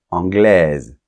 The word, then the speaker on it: anglais: espagnol espagnol Royaume-Uni anglais anglaise tu vois la différence anglais on ne prononce pas la lettre S finale anglaise on va prononcer